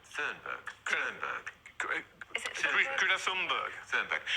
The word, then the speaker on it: Thunberg: How do you pronounce that girl's name? Thunberg.